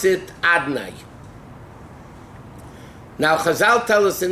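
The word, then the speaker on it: אדני: Aleph Daled Nun Yud, Adnai, the way we pronounce it, equals 65.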